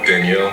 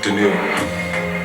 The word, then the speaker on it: Danielle: A lot of people tend to say Danielle, but it's pronounced Danielle.